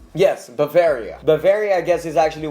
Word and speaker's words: Bavaria: And I remember going and how generic, I guess, like Bravia. What he mentioned earlier, Bavaria. Let me make sure I pronounce this right. Yes, Bavaria.